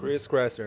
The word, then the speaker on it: Chris Kresser: O Kresser, Chris Kresser? É assim que fala, Rodrigo? Chris Kresser, é esse mesmo. Eu gostei mais da sua pronúncia, como é que é?